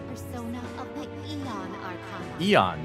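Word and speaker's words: Aeon: of the Eon Arana Eon not ion okay Eon the a is silent good to enough oh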